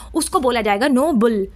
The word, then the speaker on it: Nobel: इसमें इसको बोलेंगे नो बेल। नो बेल। ठीक है? Stress on the second slave. अब आप देखो यहां पर लिखा है stress stress on the second sleeve यानी जो सेकंड स्लेव है बी ई डबल एल इस पर हम लोग स्ट्रेस डालेंगे यानी थोड़ा खींच के बोलेंगे नो बेल।